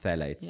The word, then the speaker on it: phthalates: Yeah, but it's pronounced phthalates.